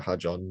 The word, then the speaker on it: Hadjar: I feel so sorry for Hadjar, not just because of that formation lap spin, because also Crofty seemed entirely unable to say his name all race long. It's Hadjar, like jar, not You like can tell